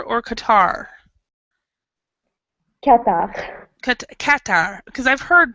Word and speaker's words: Qatar: is it in is it called Kar or Qatar katar katar because I've heard but two pronunciations I've heard Kar I've heard Qatar okay katar it's inic it's qar okay yeah when IR say in English it's katar okay katar okay uh so in in Qatar